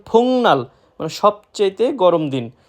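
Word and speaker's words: 복날: বারান্দা এরপর রয়েছে ফুংনাল ফুংনাল আমরা যদি কেউ উচ্চারণ করি ফুকনাল সেটা সম্পূর্ণরূপে ভুল সঠিক উচ্চারণ ফুংনাল মানে সবচাইতে গরম দিন বা সবচেয়ে গরম দিন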